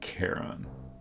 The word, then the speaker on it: Charon: At one point, I did a lot of research into the proper way to pronounce this, and there's obviously lots of options, and seemed to be some disagreement on the correct way, but the most convincing argument that I came across was roughly Charon.